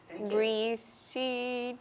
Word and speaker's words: receipt: e i p t and what is it reseed good so a trick what your mom was